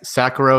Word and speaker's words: Sacharow: I am actually astonished you're the one of the few people who pronounces the CH correctly but yes Sakura is is how you